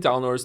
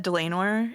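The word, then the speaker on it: Dlanor: Am I saying Dalnor's name wrong, by the way, Mouse? Is it? It's said Delanor in Delanor. Yeah. So like lame because she's lame.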